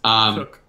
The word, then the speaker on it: Koch: I think especially, is it Cook or Koch? I don't know how you pronounce the guy's name. It's Cook.